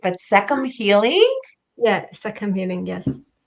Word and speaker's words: Sekhem: you've got to fix this if I don't pronounce it right but seum healing yes seum healing yes so tell me